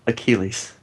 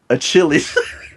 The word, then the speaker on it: Achilles: hero or hero mythological achilles mythological hero achilles yes right that's not how he says it he says hero mythological a chili no god chili's yeah